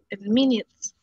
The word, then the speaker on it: minutes: better soon well nelly the pronunciation for this word is minutes minutes right minutes minutes minutes minutes yes if you say you're talking about the the yellow toy do you remember minions yeah okay yeah exactly so you say minutes minutes thank you i'm going